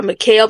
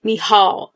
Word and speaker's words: Michal: queen, Michal, okay, now in the first review, I said that I was going to call her Mikhail because when I looked it up, that's how they pronounced it. But in this episode, I heard Jonathan call her Michal. So that's what I'm saying.